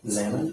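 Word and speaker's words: Xana: Zana. Mhm. Can you spell that for me?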